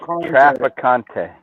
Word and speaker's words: Traficante: Without the accent, it's Traficante.